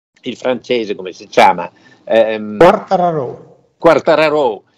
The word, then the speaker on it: Quartararo: Quartararo. Quartararo. E poi che c'hanno, straordinario. Ci hanno tirato le orecchie, perché siccome è siciliano di origine, sarebbe da dire Quartararo.